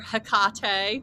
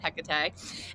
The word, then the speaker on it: Hecate: Yeah, we had we talked today about Hecate Mhm. or Hekate. We were like trying to decide on pronunciation, but we decided Hecate.